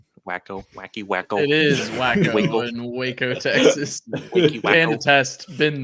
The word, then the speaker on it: Waco: or Brownsville um or even out to like Waco or something so still in like the Texas area Texas is huge pronounced wacko wacko wacky wacko it is wacko in Waco Texas test been there we did